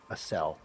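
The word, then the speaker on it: Acele: As cell. I wonder she must live around here. Maybe in the shanty or in the church. What's her name? Asel. I was saying it right. Asel.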